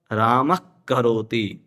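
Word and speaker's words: रामः करोति: वहां राम का जो उच्चार जो विसर्ग है उसका उच्चारण ख जैसा हो जाएगा। राम करोति राम करोति उसी प्रकार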